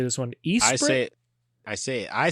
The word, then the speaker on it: Esprit: Esprit? I said Esprit.